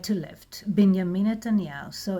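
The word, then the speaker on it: בנימין: And the letter Nun, N, and Shva, so it will sound like Binyamin. Shva Na, it's like a bit like Tzeirei, it's a small sound, but Shva Na, it closes the syllable, so it's like bin. And Yod with Kamatz, Ya, would be Ya. Mem with Hirik, yes, me. So Binyamin.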